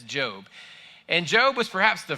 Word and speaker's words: Job: And if you thought it was pronounced Job, that's okay. Don't be down on yourself. It happens to the best of us. But it's actually, at least in English, we pronounce it as Job.